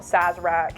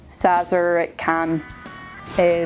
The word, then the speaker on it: Szarekhan: So, the dynasty I've chosen this time is not Szarekhan, it's actually Szarekhan. Still not pronounced correctly, but closer to the real thing.